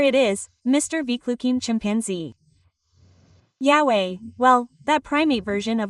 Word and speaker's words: Yahweh: Yahweh. That's how it's said.